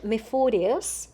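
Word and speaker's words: Мефодий: Kirill, and Methodius, that is Methodi. That's Okay. how we pronounce it in Methodi.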